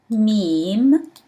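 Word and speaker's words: ميم: Meme, meme. Meme from its name pronounced like M in English.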